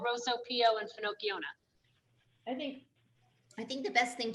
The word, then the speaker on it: Finocchiona: Is it Finocchiona? Finocchiona. Like Pinocchio. Right. Finocchiona.